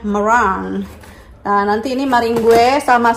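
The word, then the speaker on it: meringue: Ya, ingat enggak maringue, Tia? Tuh, dibacanya merang.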